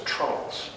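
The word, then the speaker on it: treenail: built by the way the name for those dowels is tree nails or it's usually just pronounced as trunks so it's interesting that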